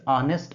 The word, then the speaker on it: honest: The right pronunciation is honest. Honest नहीं, honest is the right pronunciation.